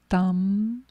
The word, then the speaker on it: tam: mantra and we do this with the seed syllable of tara which is t a m thumb and with the first sounding of tam manifest